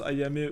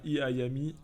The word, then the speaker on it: Ayame: c'est un peu jouer ça se prononce Ayame où tu as vu un iami je suis pas du